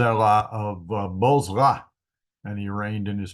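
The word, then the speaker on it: Bozrah: are uh Z of bosra and he reigned in his place now bosra is an interesting place and the bee has a doggish so it's pronounced with a B bz bzra uh another name for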